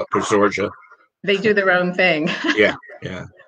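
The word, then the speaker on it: Posorja: And it's most people call it Pasorha because this J is usually pronounced as an H in Spanish, but the locals are, for whatever reason, call it Pasorja.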